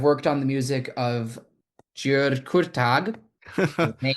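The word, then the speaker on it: György Kurtág: I've worked on the music of György Kurtag. His name is Hungarian names are a little tricky to pronounce.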